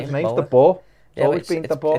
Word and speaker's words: De Boer: His name's De Boer. Yeah, Always been De Boer. It's spelled Boer, innit?